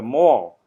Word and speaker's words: Mall: The mall rhymes with pal.